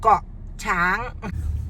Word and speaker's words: Koh Chang: Koh Chang. Okay, so we're leaving here now at 7:30, and we'll do a bit of the journey to Koh Chang.